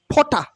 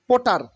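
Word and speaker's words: potter: gold Smith মানে স্বর্ণকার ফটা ফোটা নট ফোটার ফটা ফটা ফটা মানে কুমার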